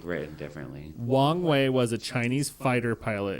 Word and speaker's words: Wang Wei: Wong Wei is W-A-N-G. Like Wang. W-E-I.